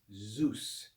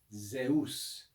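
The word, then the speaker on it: Ζεύς: We normally say this in English as Zeus, but the Greek pronunciation is Zeus.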